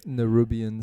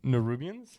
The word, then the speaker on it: Nerubians: the arachnid creatures right n rubian n rubian yeah um still said it wrong nerubians there you go yeah nerubians nir rubian